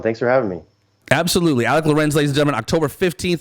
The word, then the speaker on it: Alik Lorenz: instagram so that's at alec lorenz so just like it's spelled on here a-l-i-k-l-o-r-e-n-z um so you